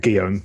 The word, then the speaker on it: Guillaume: say one more thing, and I'm going to say your brother name we pronounce Jerome. Guillaume, yeah.